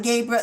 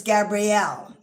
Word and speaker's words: Gabriel: Cuz it's not Gabriel, it's Gabrielle. And I know it may not be Gabrielle the way we spell it, but that's what it is.